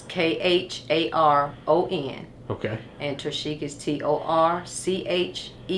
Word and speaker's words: Kharon: So, tell me how to pronounce your son's name and spell it. His name is Kharon. Kharon Davis. It's Kharon.